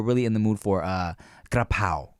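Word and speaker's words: กะเพรา: And I'm asking, like, you don't have gapao? And if you want to pronounce it like correctly, Thai correctly, it's grapao.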